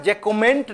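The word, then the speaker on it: Jacquemont: इसको हिंदी में कई जगह पर आपको विक्टर जकमा मिल जाता है। लेकिन ये जकुमेंट ऐसे करके उसका अंग्रेजी वाला स्पेलिंग ये होगा।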